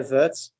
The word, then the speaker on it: verte: Pardon, l'autre salon est verte.